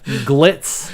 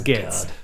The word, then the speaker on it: Gitz: So you said it right the first time. You didn't say glitz or Glitz. grits. It was Gitz.